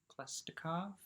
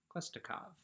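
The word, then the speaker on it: Khlestakov: of guy uh called klestikov klestikov k-h-l-e-s-t-a-k-o-v i'm going to call him klestikov but it's probably possibly more interesting pronounced more pronunciation than klaustikov uh he arrives and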